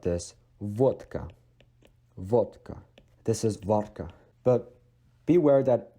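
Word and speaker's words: водка: But beware that it is not g. It is g, vodka, not vodka, right?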